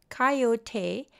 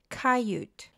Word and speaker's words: coyote: every night without exception coyote pronounced coyote and in some regions cayut is a native Mexican